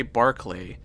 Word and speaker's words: Barclay: actually a good character why do you say barclay it's spelled barclay and they do say barkley and i stick with barkley i say barkley ray wise i forgot